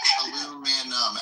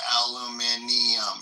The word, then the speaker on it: aluminium: It's a whole extra syllable, isn't it? Aluminum, aluminium, yeah. Makes sense. I know. I'm like. Yeah, it's an extra. It's an extra NI.